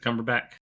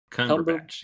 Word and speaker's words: Cumberbatch: best thing old Benedict Was it cumberbach how do you pronounce his name Cumberbatch right Cumberbatch yeahum the new Doctor Strange